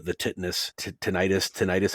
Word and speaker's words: tinnitus: consciousness in a scene, and you hear the tinnitus, however you pronounce it.